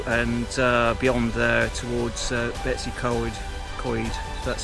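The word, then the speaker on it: Betws-y-Coed: reach uh theu and uh Beyond there towards Betsy c c that's how you pronounce it so um okay I'll report in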